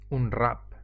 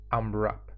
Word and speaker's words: Unwrap: modificador que se llama al run que es difícil de pronunciar seguro que lo pronunciaremos de formas diferentes a veces se simplifica y se dice un rap aunque en realidad se pronuncia un wrap este modificador lo podemos